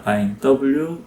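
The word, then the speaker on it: Wein: 독일어에서는 바이라고 발음을 하고요 독일어의 포도주는 인입니다 바인 W이라고 접고 인이라고 발현을 합니다 그리고 스페인어에서는 영어 철자를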